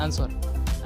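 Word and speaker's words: answer: Question number 25, which is the silent letter in the word आंसर। आंसर शब्द में कौन सा मूक अक्षर है? ए आर, बी ई, सी एस या डी डब्ल्यू। तो इसका जो सही आंसर है वो है ऑप्शन नंबर डी, यानी कि इसमें जो डब्ल्यू है वो एक साइलेंट लेटर है।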